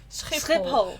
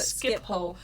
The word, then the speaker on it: Schiphol: Schiphol. What's the sound that nobody can pronounce?